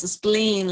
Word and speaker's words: spleen: Yes, spleen, like smiling, spleen. And then you are going to say the correct pronunciation. Try to smile, and that's enough.